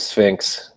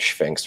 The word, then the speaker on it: Sphinx: after inter acting with Sphinx sorry for calling it Shinx for a while there too no worries um uh